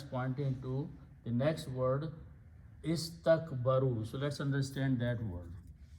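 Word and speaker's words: استكبروا: So allazina, those people, istakbaru, they were arrogant. So you just put an alif, we don't pronounce.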